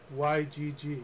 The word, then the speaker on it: Ygg: Okay, so Sirius B has written Ygg, Y-G-G. Yeah, it's pronounced Ygg.